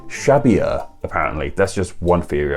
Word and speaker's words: Xavier: i also read that in basque the x makes it sh sound like a sound while the v makes a b sounder sound so xavier imbasque may actually have been pronounced shabia apparently that's just one